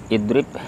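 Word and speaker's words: اِضْرِبْ: Darabanya fi'il madhi, yadribunya fi'il mudhari, dan idrib fi'il amr. Itu bacanya idrib ya. Itu tanda wasal itu di atasnya ya. Dibaca dengan idrib.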